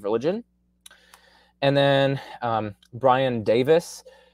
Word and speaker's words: Davies: and then um brian davis it's pronounced davis but it's spelled davies d-a-v-i-e-s um he also